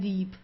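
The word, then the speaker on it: Dieb: Uh also the B it's not pronounced very strong. So it's not deep or so. It's deep. Sounds more like a P at the end.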